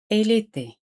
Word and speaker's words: elle était: Se pronuncian igual. J'étais, elle était.